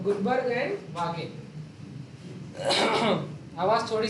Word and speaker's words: Guldberg: इनकी स्पेलिंग में डी भी लगा लो, साइलेंट वाला डी। हाँ, जैसे हमारे यहाँ की इंग्लिश में गुल्डबर होंगे, तो लेकिन ये हम लोग की इंग्लिश के नहीं है, विदेश वाले, इनके में डी साइलेंट है।